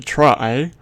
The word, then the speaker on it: trie: A try pronounced a try or a prefix tree is a tree data